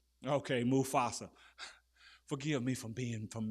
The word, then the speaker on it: Mufasa: But now and when that that that that that animation uh Mufasa I said it right then. Mufasa. Okay. Mufasa. Forgive me for being from Mississippi and y'all from the northern. I know you Mufasa.